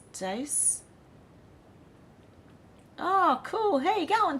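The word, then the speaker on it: Deace: podcast from Blaze media his name is pronounced dice oh cool hey go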